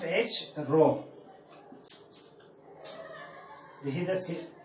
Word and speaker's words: rho: Both are same, and this is the symbol of resistivity which we normally pronounce as rho.